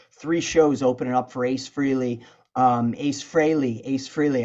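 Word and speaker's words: Frehley: shows opening up for Ace Freely um Ace Frey Ace Freely I know people say you say his name wrong just disclaimer I've been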